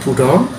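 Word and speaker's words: Proudhon: tokoh Pierre Joseph budong e tulisannya prodon Tapi bacanya budong dan emmaman Pierre Joseph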